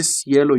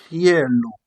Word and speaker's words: cielo: You don't say cielo in Italian. I'm going to explain it under. You say cielo. Please pronounce after me. Use exactly this pronunciation, this chi.